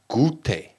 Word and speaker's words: goûté: So then we've got déjà goûté. Goûté. Rhymes with booty.